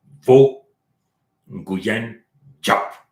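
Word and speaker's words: Võ Nguyên Giáp: Là, j'essaie de prononcer en vietnamien, on peut le dire comme ça. Vo Nguyen Diap.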